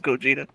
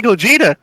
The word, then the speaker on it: Gogeta: anything and and not hear them pronounce it as Gogeta exactly like it's in the game they say Gogeta yeah so before I